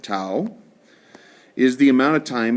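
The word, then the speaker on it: τ: me write that here T Au is how we pronounce it too is the amount of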